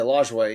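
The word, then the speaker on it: Lajoie: how you say it yeah I yeah yeah lway yeah but it like I feel like you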